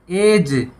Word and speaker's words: ऐज: है और उसके बाद ऐज कि यह चीज बोला जाता है तो डी साइलेंट होता है ऐज यह होता है